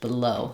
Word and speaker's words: below: In below, that's just like the word low, where the O syllable is stressed, below. So the B syllable is shorter there.